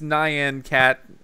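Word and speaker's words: Nyan Cat: in front of me I guess I was pronouncing it wrong he says it's Nan cat 900 cats have nine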